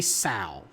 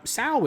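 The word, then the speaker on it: Tsao: So Robert, I'm going to say Sal. I'm going to assume the C is, the T is silent. T-S-A-O.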